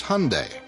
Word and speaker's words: Hyundai: It's Hyundai, like Sunday. We hear Hyundai, Hyundai.